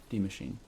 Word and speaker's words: Die Maschine: Die Maschine. That's how you pronounce it.